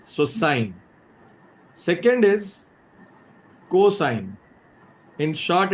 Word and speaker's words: sine: The basic trigonometric functions are first one is sine beta is n s how will you pronounce it? It's s i n e. Don't pronounce it as sin or any s or anything.